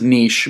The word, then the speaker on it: niche: He's, and he pronounced it wrong, of course. The word is niche, but he says, pick a niche and grow rich.